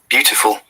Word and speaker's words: beautiful: button of this microphone beautiful beautiful beautiful this is british okay now let us listen to the american beautiful have you heard that the t sounds like d beautiful beautiful we say